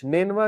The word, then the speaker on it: نینوا: نینوا اس کا تلفظ ہے NINEVEH. نینوا جو ہے یہ عراق کی ایک سٹی ہے، پرانی سٹی ہے.